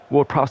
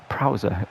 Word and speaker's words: Ward-Prowse: Prowser. Why did he pronounce it like that? It's James Ward-Prowse, but it doesn't matter